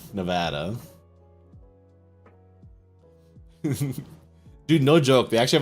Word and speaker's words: Nevada: Not Nevada, Nevada.